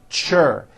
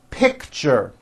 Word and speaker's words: picture: keychain lunchbox richard picture that's a tricky one it's two syllables you pronounce it pick picture picture teacher fortune nature beach